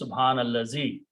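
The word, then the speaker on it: سُبْحَانَ الَّذِي: If it is pronounced, it is subhanallazi.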